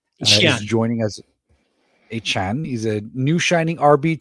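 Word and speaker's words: Achane: Travisen or Achan as he likes to pronounce his name. He's joining as Achan.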